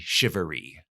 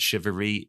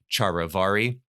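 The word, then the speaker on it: charivari: find in colonial America is something called the shivery now that's how you pronounce it I'm told shivery if you see it spelled if you're a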